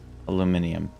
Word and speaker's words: aluminium: Aluminium. Why did I say it like a British person? Aluminum.